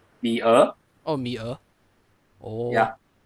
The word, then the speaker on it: Mia: Wait, how did you pronounce her name? Mia.